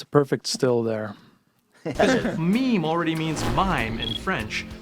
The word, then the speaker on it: meme: just go ahead and pronounce the word meme the way we all read it in our heads I admit something embarrassing yeah you're like my first two years on the internet I said I said Mamie yeah me too why